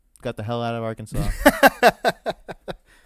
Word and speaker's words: Arkansas: south wind in 1881 the pronunciation of Arkansas with the final s being silent was made official by an act of the state legislature after dispute arose between